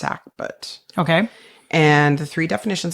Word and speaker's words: sackbut: it's spelled s a Buu T but it's pronounced sackbut okay and the three definitions I have are